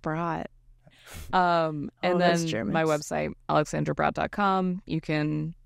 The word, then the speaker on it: Brodt: And that's B-R-O-D-T, B-R-O-D-T, I believe, right? Pronounced Brott.